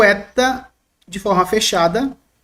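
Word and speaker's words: ἦτα: Eta, mas o som dele dentro de uma frase é benigno, é como se um E fechasse um pouco. Para diferenciar, claro, existem aqueles que diferenciam o eta de forma fechada e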